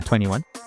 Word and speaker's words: 2NE1: Is that how you say it? Yeah, 21. Literally, their name is 21.